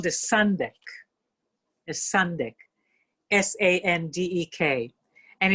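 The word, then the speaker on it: sandek: term for it it's called the sundeck the sundeck s-a-n-d-e-k and it's it's really a very great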